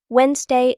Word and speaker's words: Wednesday: Wednesday and February. These are the two hardest words in beginner English. Both have silent letters and strange pronunciations.